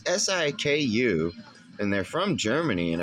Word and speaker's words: Siku: Those Siku diecast, I think is how you pronounce it. It's Siku, and they're from Germany.